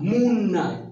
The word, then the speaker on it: mna: Mimi nina, wewe una, yule ana, sisi tuna, nyinyi muna, sio mna, muna. You have to pronounce muna.